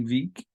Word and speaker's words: Wieck: He studied with Friedrich Wieck, V-I-E-C-K, Wieck. A little bit about German pronunciation.